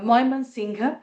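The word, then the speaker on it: Mymensingh: How do you pronounce it again? Can you say that again? Uh it is Moyman Singha.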